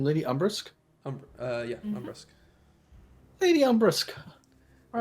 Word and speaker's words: Umbrusk: Not exactly thrilled with the accommodations, but How do I pronounce her name? Lady Umbrusk? Umbrusk.